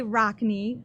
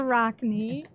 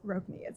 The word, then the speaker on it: ROKNE: say it um but we say Rockne and we like to say we're gonna rock the rock knee okay but um but we hear all kinds of pronunciation so we fully accept Roku needs okay okay thank you